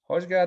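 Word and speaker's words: Højgaard: Hojgaard, the Dane.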